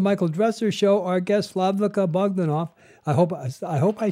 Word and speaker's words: Slavica Bogdanov: Our guest, Slavica Bogdanov. I hope I said that right. Did I do that? Did I pronounce? Yes, almost. Okay. Tell me how to say it. Slavica Bogdanov. Ah, Slavica Bogdanov.